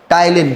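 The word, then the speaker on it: ptyalin: टाइलिन में पी अब silent है। कौन सा साइलेंट है? पी। तो अपन क्या कहेंगे? टाइलिन। क्या कहेंगे? टाईन। इसमें कौन कौन सा है? पी साइलेंट है।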